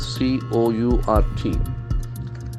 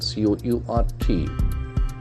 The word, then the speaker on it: court: Court is underword C-O-U-R-T. We'll see its pronunciation C-O-U-R-T. Court. Court. The R sound is silent.